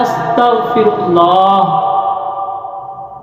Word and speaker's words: استغفر اللہ: عطا نہیں فرمائے گا۔ تو اصل لفظ کیا ہے، صحیح تلفظ کیا ہے؟ صحیح لفظ ہے استغفر اللہ۔ اے اللہ میں تجھ